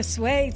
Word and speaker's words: Suay: You can say it a million different ways, but technically it's Suay Sew Shop.